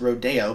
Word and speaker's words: Rodeo: and then its follow-ups Rodeo sometimes pronounced Rodeo but I think that sounds kind of stupid and of course Appalachian